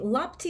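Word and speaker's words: лапти: Lapti is a Russian word, and in Yiddish I guess you pronounce it like lapches, yeah, but in Russian it's lapti.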